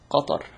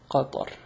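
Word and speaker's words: قطر: I don't know how you pronounce it in English, but in Arabic it's Qatar. Qatar.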